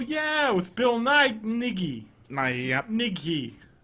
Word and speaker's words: Nighy: Nighy. Mm-hmm. That's how you pronounce it.